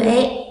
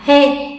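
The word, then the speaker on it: へ: Trường này cũng tương tự, chúng ta dù viết là he nhưng không đọc là he mà sẽ đọc là e, chữ e thôi nha, đọc là e.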